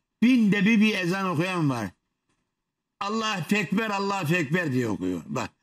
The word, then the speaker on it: Allahu Ekber: Allah-u Ekber, Allah-u Ekber diye okuyor. Bak, Allah-u Ekber. Ne diyor hocam? Allah-u Ekber. Allahu Ekber diyecek yerde Allah-u Ekber diyor.